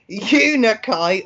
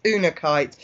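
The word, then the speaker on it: unakite: to say it phonetically is it tunic light or is it oon our kite it's una kite you know kites bare copper pendant now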